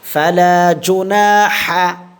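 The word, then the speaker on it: فلا جناح: আচ্ছা দেখেন তাহলে ফালা ফা জবর ফা লাম আলিফ জবর লা ফালা এক আলিফ টান হবে জিম পেশ জু নুন আলিফ জবর না জুনা জুনা জুনা এক আলিফ টানবো আমরা। ঠিক আছে? ফালাজুনা আবার উচ্চারণ করেন।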